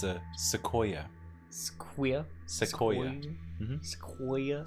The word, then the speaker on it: sequoia: It's a sequoia. Sequoia? Sequoia. Mm-hmm. Sequoia? Sequoia. That's how you pronounce that.